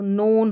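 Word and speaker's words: known: यह स्टार्टिंग में है यह spelling pattern unhappy अनहै unfair unfair अननोन अननोन यहां पर जो के एन है के जो है यह साइलेंट है तो नोन हो गया क्या हो गया नोन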